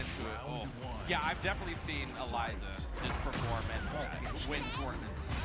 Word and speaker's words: Eliza: is a counter pick for how do you pronounce that Eliza yeah yeah you got it spot on Eliza versus Asuka Asuka yeah let's see let's see